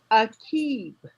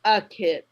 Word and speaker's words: Akib: introduced you to me she said your name was akib not a kid so i always called